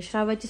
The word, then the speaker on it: श्राव्या: श्राव्याची spelling काय आहे माहिती तुला?